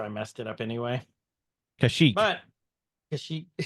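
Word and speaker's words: Kashyyyk: messed it up anyway kashik but kashik I think it's actually kashik I don't know there's too many wi's in a row first off Ben tell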